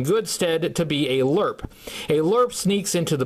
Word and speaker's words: LRRP: range Recon Patrol and in another parenthesis it says it's pronounced lurp his file name is